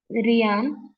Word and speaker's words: Rian: You are pronouncing me wrong. Rian. I think it is Rian then. Okay, students, I will take your names. Yes, Rian. Okay, I will call you Rian.